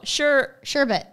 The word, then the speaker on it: sherbet: Sherbet. Sherbert. But Sherbert. There's no second R.